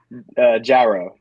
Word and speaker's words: Jarreau: Jarreau. Jarreau. All right. Calhoun, you practice. Jarreau. Basically, gyro, but a really, really, really, really thick Southern accent person said it.